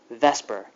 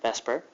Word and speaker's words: VSEPR: and that is called Vesper and I know it doesn't look at all like Vesper it's like theer but we pronounce it Vesper and here's what it